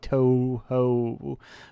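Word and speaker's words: Touhou: There's a U after those two O's. After each of those O's follows a U, so it's more like Toho.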